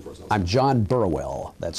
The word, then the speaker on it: Burwell: I'm John Burwell. That's spelled B-U-R-W-E-L-L, Burwell.